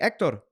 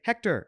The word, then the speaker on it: Hector: to me and goes hey ector that is a correct way to pronounce my name name is not ector no I mean it is but then another person could say Hector and that's correct so don't jump up